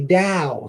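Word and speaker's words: Tao: to pronounce the words even though it's spelled with a T it's actually da yeah yeah but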